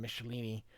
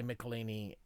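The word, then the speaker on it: Michelinie: they tapped in David michelini I call him michelini I know some people say melini take your pick CH can be a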